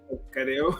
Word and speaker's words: Kariu: Kikuyu, so it is Kareo, right? Kareo. Yeah. Kareo. Yeah. So it's the Kariu. It would be, I guess the I would be sort of pronounced as E, but any is fine actually.